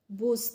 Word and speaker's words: bus: तो यहाँ देखिए, अब अगर आप प्रैक्टिस करते हैं, डेली पढ़ते हैं, तो आप समझ जाएंगे कि बुस हमने इसका प्रोनाउंसिएशन गलत किया है। तो इसका प्रोनाउंसिएशन क्या होना चाहिए? इसका प्रोनाउंसिएशन होना चाहिए बस।